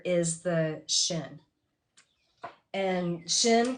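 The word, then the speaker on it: ש: is the shin and shin can also be pronounced sin because through one word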